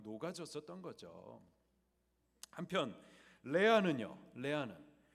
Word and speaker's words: 레아: 레아하고 라헬이었습니다. 영어 발음으로 하면 리아 그리고 레이첼.